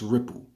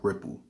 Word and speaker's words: Ripl: now but never used I guess it's pronounced ripple now today I used